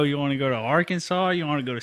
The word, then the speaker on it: Arkansas: want to go to Arkansas you want to go to Central Asia our Kansas that's not how you say it Levi sure it